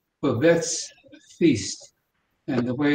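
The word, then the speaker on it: Babette's Feast: of you must have seen it it's called bevets feast and the way it's spelled is b-a-b-e-t-t-e-s feast like in meal and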